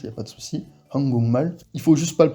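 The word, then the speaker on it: 한국말: C'est Hangukmal, Hangukmal. Donc là, on a quoi? On a tout simplement le G devant le M, donc qui se transforme en NG.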